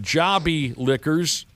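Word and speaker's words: Jobi Liquors: It's pronounced Jobbie Liquors.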